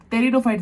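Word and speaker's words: Pteridophytes: भी तो और हॉपफुली तो तब आप उसको तेरी दो फाइट बोलना अभी तो स्पेलिंग याद रखना के लिए अपन बोलते हैं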